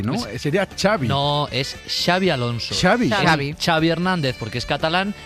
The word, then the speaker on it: Xabi Alonso: En euskera la X no se pronuncia igual que la X en catalán. Es un matiz, es un pequeño matiz que yo le llamo, yo lo catalanizo, yo le llamo Xavi Alonso.